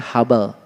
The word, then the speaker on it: Hubble: Ditulisnya huble. H U B L E. Huble. Dibacanya Hubble.